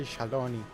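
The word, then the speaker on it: Shaaloani: I say Shaluani, I think that's how they pronounced it in the... well, what's his name? Not the media tours, the fan fest, but in Japanese they say Shaloni, which is different.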